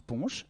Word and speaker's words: punch: n'a pas été inventée mot angloys qui se prononce punch et qui est le